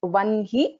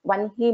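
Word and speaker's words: वह्नि: जनवत्सला वाग्वादिनी वामकेशी Vanhi Mandal Vasini But it's one he. So many people pronounce this slightly differently. It should be pronounced as one he mandala vasini.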